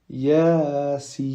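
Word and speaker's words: يس: Yasin.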